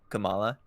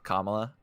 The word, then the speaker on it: Kamala: I liked Kamala. Mm-hmm. I keep almost calling her Kamala, like pronouncing her like the vice president pick. That is not how you pronounce it.